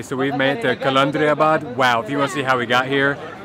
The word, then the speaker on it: Qalandarabad: Okay, so we've made it to Qalandarabad.